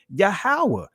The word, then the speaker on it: Yahweh: You'll see the YHWH, which is the proper pronunciation of the Most High's name, Yahweh.